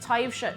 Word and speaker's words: Taibhse: I still can't believe Taibhse is pronounced Taibhse. It's pronounced Taibhse.